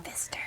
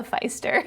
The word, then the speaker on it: Pfister: Yeah. Pfister. Yeah. I have to say that because I said it wrong at the first best of. I called it the Feister.